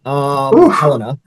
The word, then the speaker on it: Helena: Helena.